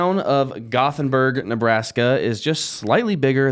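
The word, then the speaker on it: Gothenburg: Nebraska that's a mouthful T where are you from gothenberg neas that's how they say it how many still gothenberg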